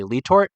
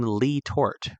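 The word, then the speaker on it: Le Tort: A lot of the Pennsylvania old-timers that are kind of from that area say Letor, but I think that James Letor when he came and settled in that valley coming from France never pronounced his own name Lee Tort.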